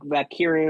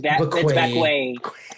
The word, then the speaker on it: Vaquer: I'm like, still, how are you gonna mess up a name like Vaquer? Like, and it's not even like off a syllable, like Valkyria or something like that. I've heard Valkyria, yeah. Valkyria or something like Valkyria or something like that. It's Vaquay. Like you went, nah, this way.